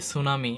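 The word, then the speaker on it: tsunami: আরও কিছু এরকম বানান আছে যেমন এস ইউ এন এ এম আই, এটা হচ্ছে কি সুনামি, এটার প্রথমে কিন্তু টি আছে, তার মানে এটা কিন্তু আমরা টিটা উচ্চারণ করতে করি না, কিন্তু এখানে হচ্ছে কি সুনামি বানানোর প্রথমে টু আছে।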